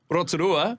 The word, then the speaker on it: Rotorua: Like Rotorua, Yep. I have to have a little pause before I say it to prepare myself to roll the R.